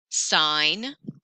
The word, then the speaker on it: sign: Sign. Oh, another silent letter in the middle of a word.